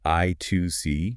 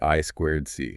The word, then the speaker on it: I²C: Now, you might hear it pronounced a few different ways. I've heard I2C. Uh-huh. I 2 C is common. Or maybe I squared C.